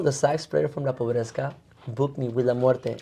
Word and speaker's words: Pobreska: me to join La Pobreska. Wow, and how long had that band been going on? How do you say it? Sorry, La Pobreska. Pobreska. Like poor? Yeah, like poor.